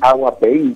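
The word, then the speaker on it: Aguapey: rodeado de ríos, el río Uruguay, el río Aguapié, a ver si lo pronuncio bien. ¿Es así, Darío? Sí, el río Uruguay y el río Aguapeín, que quiere decir agua de lluvia, así que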